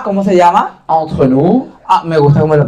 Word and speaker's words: entre nous: Entre nous. Ah, me gusta cómo lo pronuncias.